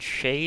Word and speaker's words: shi: There actually has been a few attempts to make hermaphroditic pronouns, and Shay is actually considered one of the most popular. It's like S-H-I with a pronunciation is more like S-H-A-Y.